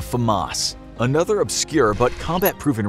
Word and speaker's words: FAMAS: Number Nine: The FAMAS [NARRATOR NOTE: Pronounced Fuh-moss] Another obscure but combat proven rifle you may never have heard of is the FAMAS.